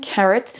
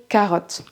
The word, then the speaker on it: carrot: C'est le cas par exemple de love, money and carrot qui ne se prononce pas love, money et carotte.